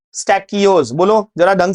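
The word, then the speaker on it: stachyose: स्टैकियोज। बोलो जरा ढंग से प्रोनाउंस करना सीखो, स्पेलिंग सही लिखोगे। बहुत सारे टीचर स्टैचियोज बता रहे हैं, स्टैचियोज नहीं है, स्टैकियोज है, क है, च नहीं है।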